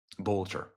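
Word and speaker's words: Boelter: Look at that, Vance Boatler. In case you're wondering if that's forged or fraudulent, here's the official documents of the Secretary of State of Minnesota. Here it is. Vance Bolter. Bolter.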